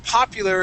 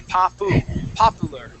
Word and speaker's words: popular: Now, the word popular is interesting because it looks similar, okay, to a Spanish word. All right, and so you have an inclination to say popular, right? Now, the U in this word, okay, actually sounds like this. We say popular.